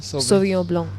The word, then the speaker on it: Sauvignon Blanc: For a white, you will never ever go wrong with a Sauvignon Blanc, which is what I'm having. You will barely ever go How wrong. do you pronounce that again? Sauvignon Blanc.